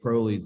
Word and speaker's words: Crowley: it's it's pronounced crowley it rhymes with holy crowley is brilliant crowley